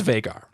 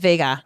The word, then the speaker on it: Vhagar: And the dragon's name is Vhagar. Oh. So do you think Vhagar? No, we call that Vhagar. Yeah, Vhagar. You got to say it right.